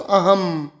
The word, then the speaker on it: अहं: यहां पर अह ह के ऊपर बिंदु है उसको हम अनुस्वार कहते हैं। उसका म का उच्चारण होता है। तो अहम ठीक है?